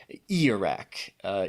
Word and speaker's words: Ijiraq: back to our creature, it is Ijiraq, even though it does have a J in there. Doesn't look like it, but definitely. Apparently, that's how it's said.